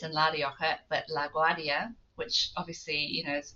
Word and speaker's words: La Rioja: Um, and so for those of you who don't know, or maybe I should pronounce it, La Rioja in Uh-huh.